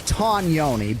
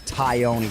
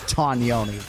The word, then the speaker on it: Tognoni: So it's Tognoni, but he has been ubiquitously referred to as Chris Taioni for so long that he's okay if people don't go with the correct Italian pronunciation, but it is Chris Tognoni, and Buffer and I